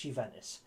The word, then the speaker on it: Juventus: um on loan from juventus that's no no you didn't mishear me you ventus spelt with a j by the way it's a little bit silent but it's juventus let me take you